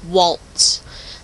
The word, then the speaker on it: WaltZ: little sound bites and this one is called Walts and it's spelled w a l t capital Z so